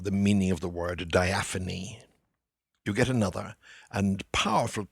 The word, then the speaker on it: diaphane: I've heard it pronounced diaphane. But I'm opting for diaphany, if only for the lyricism.